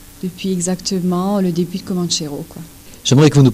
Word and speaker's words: Comanchero: son titre qui s'appelle Comanchero, prononce-le à la française.